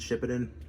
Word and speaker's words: Shippuden: want to pronounce it I always thought it was weird to call it Shippuden because it's like but what did she poo in um so I've always just said ship it in just a I guess